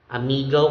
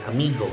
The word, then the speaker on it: amigo: Although in for our brothers and sisters from the Visayan regions, we say amigo, amigo. But in the dictionary, the transcription shows that it should be pronounced amigo, amigo.